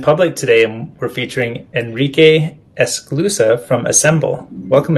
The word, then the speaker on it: Enrique: Oh yeah, I've heard Enrique. I've heard Enrique. Sometimes they misspell it when they hear it, but generally Enrique is the way that I go by. And then of course, if people speak Spanish, Enrique would be the way to say it.